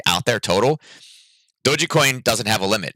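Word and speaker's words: Dogecoin: it it and it's it's actually doji coin i found i was saying i originally thought it was doggy coin but it's doji coin um that's how you say it but you know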